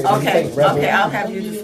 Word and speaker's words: REBAL: I know when you say Rebel. Okay, I'll have you to spell it then.